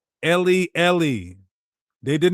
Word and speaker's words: Eli: So how do you say my god in Hebrew? Ellie. How do we know that? Oh, because he they said that's what it meant when he said Ellie.